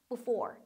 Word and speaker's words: before: 마찬가지로 강세가 이음절이 있어요. for 부분에 있기 때문에 앞에 있는 be, 이는 상대적으로 약화돼요. 그러니까 before, before. before가 아니라 약간 그냥 before처럼 발음이 되네?